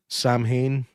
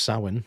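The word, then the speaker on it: Samhain: Like it it's just it brings back Sam Hayne from uh Halloween 3. Yeah. Remember the that the festival Sam Hayne? Well, it's pronounced Sin, which nobody ever looked up when they were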